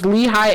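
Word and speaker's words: Lehigh: A Lee I always pronounced this wrong. It's Lehi Acres. I always thought it was Lee Acres, but a Leehigh Acres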